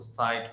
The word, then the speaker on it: sight: तो एनीवे वही हम इसको साइट पढ़ते हैं SIGHT, और GH को खामोश कर देते हैं।